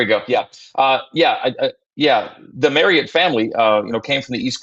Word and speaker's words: Marriott: And if people say, hey, you're mispronouncing that, if they tell me that, I'll say, no. Greg Wrubell told me it's Marriott. So that's what it's going to be moving forward.